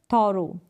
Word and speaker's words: thorough: फिर यहाँ पर है थॉरो, THOROUGH, थॉरो। बोरो और सोरो, जैसे बोरो और सोरो, इनमें आप प्रोनाउंस करते हैं स्पेलिंग्स को।